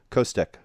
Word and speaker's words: Costec: It remains a hard C on the end. I was trying to, like, Eastern European, like, CHFI, some of that stuff. So, Costec.